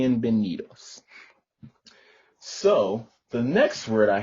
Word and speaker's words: bienvenidos: words like bien benitos the b and the v are very similar in in the tongue so to speak they're very similar when you're trying to pronounce them because they both make the ba so that's